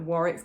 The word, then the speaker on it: Warwick: it it's quite irregular you kind of want warwick to be almost like one syllable and chancellor is